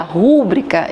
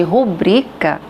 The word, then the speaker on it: rubrica: Quando a pessoa pronuncia rúbrica, em vez de rubrica, tá cometendo um erro de prosólio ou silabada, que a gente chama silabada.